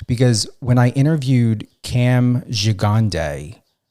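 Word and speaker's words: Gigandet: when I interviewed Cam Gigande, it was pronunciated on some of his interviews as Giganet. I even Googled how to pronunciate his last name. And it came up Gigande, but when I interviewed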